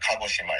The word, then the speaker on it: Kagoshima: it right now whenever you try to pronounce pronounce like Japanese word try to end every vowel so like for for example that kagoshima it's it's Ka a right so you end